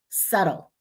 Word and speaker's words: subtle: WR we don't hear W we but we hear right wrong silent B usually at toward the end of a word doubt subtle we don't hear that there right so we can